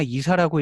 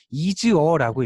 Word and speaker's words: ISA: 실무에서는 오히려 많이 쓰고, 요거를 뭐 ISA라고 읽거나 이사라고 읽는 게 아니고 이즈어라고 읽습니다. 이즈어, 어떤 때는 여기 이즈 빼기 이렇게 구분을 하기도 하는데 아무튼 이렇게 써도 이즈어라고 읽고요. 왜 이렇게 읽냐면 아래에서 위로 읽을 때 문장이 되어야 돼요.